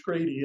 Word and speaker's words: Grede: spell my name g-r-e-d-e it's pronounced like the irish grady and uh i'm dutch